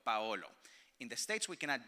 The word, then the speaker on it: Paolo: So the accent is on the A, you pronounce the O, the L, and the O, Paolo. In the States, we cannot do that. So it's Palo, and Palo is a stick.